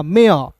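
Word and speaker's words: mare: ए आर ई है तो इसका उच्चारण एयर के रूप में करेंगे हो जाएगा मेयर मेयर नहीं पढ़िएगा मेयर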